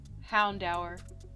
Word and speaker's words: Houndour: but he's also going to get a c houndour i looked it up that is how you